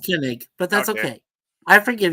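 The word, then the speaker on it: Koenig: got Shatner we got kig kenig It's pronounced kenig but that's okay I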